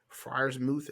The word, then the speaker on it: Freiermuth: Did I tell y'all I lost because of Pat Freiermuth?